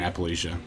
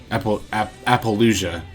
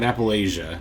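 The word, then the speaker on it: Apollousa: Unless they go for an Appaloosa. Appaloosa. Not Appalachia. Appaloosa. I'm gonna be honest, I've literally my whole life always pronounced Yu-Gi-Oh cards wrong.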